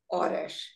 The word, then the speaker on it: horas: The H in Portuguese never has any sound. It's completely silent. The H only changes the sound of CH, NH, and LH.